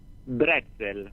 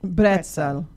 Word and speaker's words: Bretzel: Bretzel. Bretzel.